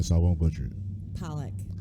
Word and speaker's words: Polik: i won't butcher it pollock that's how i pronounce it i'm glad i was